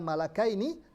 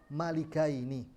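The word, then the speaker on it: مَلِكَيْنِ: Maka kata Ibnu Abbas, bacaan saya yang benar. Ya, bacanya bukan malakaini tapi malikaini.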